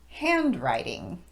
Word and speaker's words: handwriting: to another word handwriting normally the word writing would be emphasized on the first syllable and that first syllable would have a higher pitch writing however because it's now the second word in a compound noun we're going to de-emphasize both syllables in that word so it will sound like this hand writing so incorrect stress would be hand writing and correct would be